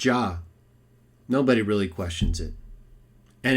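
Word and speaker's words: Jah: all this argument and how to pronounce his name just go with ja nobody really questions it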